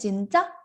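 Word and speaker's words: 진짜: Jadi misalnya ada kata seperti ini, jinja. Dibacanya itu kayak jinca, jinca, jinca. Ca-nya itu agak ditekan ya.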